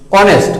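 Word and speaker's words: honest: এখানে এইচ এর উচ্চারণটা একটু খেয়াল করো তোমরা, অ, অনেস্ট অর্থাৎ হ না অ, এই হিসেবে আমরা এখানে এন বসাতে পারি, এন বসাবো আমরা।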